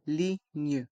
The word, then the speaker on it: ligne: plan de métro la ligne dans le mot ligne le G et le N se prononcent gne et les lettres g et n restent en suspens gne la ligne la ligne